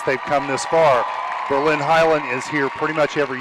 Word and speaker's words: Hiland: Hiland, yeah, Hiland.